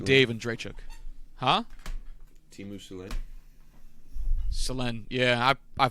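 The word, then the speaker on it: Selänne: Selanne. Yeah, I pronounced a lot of things wrong.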